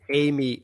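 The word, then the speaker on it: AMI: this thing yeah and it's pronounced amy like the name i just put it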